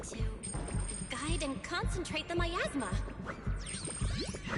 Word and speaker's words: Miasma: Large scale myasma. I know it's always pronounced myasma, but I always read that as miasma.